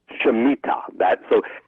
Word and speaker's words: Shemitah: But the way it's spelled is S-H-E-M, Shem, and then I-T-A-H, Shemitah.